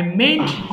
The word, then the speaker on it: meant: আই মেন্ট ইউ আমি নাও করতে পারি। সো একটু উচ্চারণটা কি মেন্ট। অনেকে ভুল করে এন এর উচ্চারণ অনেকের মুখে আসে না। সো মেন্ট পড়বেন। হ্যাঁ, পড়েন দেখি, এটা পড়ে ফেলেন সবাই।